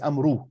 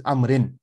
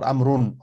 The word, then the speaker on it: عمرو: Again, never read this as amru. This waw is silent.